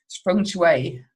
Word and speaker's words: Feng Shui: Because today's topic is going to be around Feng Shui.